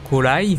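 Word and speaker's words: コライドン: la roue et d'ailleurs corail donc en japonais corail qui se prononce normalement colaï ça veut dire ancien temps immémoriaux et Mireille donc le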